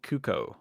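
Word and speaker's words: Cucco: nothing about Zelda they encounter a cuckoo that's how you pronounce it and our indifferent or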